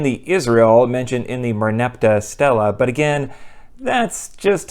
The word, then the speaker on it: Merneptah: The first written appearance of the word is not from the Hebrew Bible, but in an inscription known as the Merneptah Stela in the early 1200s BCE.